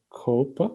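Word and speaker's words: CoAP: okay so uh i'm not sure about the pronunciation of cope i think it's a cop it's the right pronunciation uh anyway it's a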